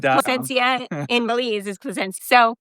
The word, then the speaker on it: Placencia: So if you ever need us, it's actually pronounced Placencia in Bise is Placencia.